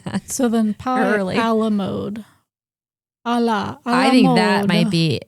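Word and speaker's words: à la mode: Some guy from Minnesota is like, I call this ice cream A la mode. It rhymes with commode.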